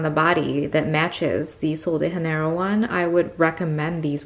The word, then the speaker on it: Sol de Janeiro: But I also wanted to swatch the Rio Sunset from Sol de Janeiro, right? That's how you pronounce it.